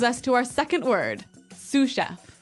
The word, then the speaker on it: sous chef: to our second word suf suf suf suf s o u s so the S is silent because it's like a French word yeah something like that